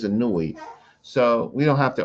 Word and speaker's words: Anui: So it's A N U E, Anui. See, that's how we so you can't pronounce his name without looking at this plural. So these are syllables A N Oh, U wow. Yeah. E, Okay. right? And so his name is Anui.